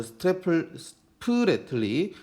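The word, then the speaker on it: Spratly: 난사군도 스프레틀리 발음 주의하시고요. 스프레틀리 군도 분쟁인데요.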